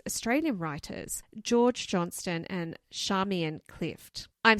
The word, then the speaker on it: Charmian: writers George Johnston and Charmian Clif. I'm saying it correctly. It's not Charmaine, it's Charamian.